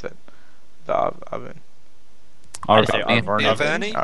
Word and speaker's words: Arverni: How do you pronounce that? The Arverni. Arverni.